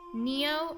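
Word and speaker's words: nio: Neo and Tio are pronounced more like Nia and Tia BTW. Thank you very much. Nia and Tio. Oh, thank you. Ammonian, you're a piece of coal. Neo and Tio sounds more like Nia and Tia.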